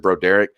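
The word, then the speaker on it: Broderick Jones: the pronunciation my boy John Garcia comes on here and pronounces it bro Derick and I'm gonna tell you right now that guys as pros pros get if he's pronouncing it that way that's the way bro Derick prefers his name pronounced so I'm gonna continue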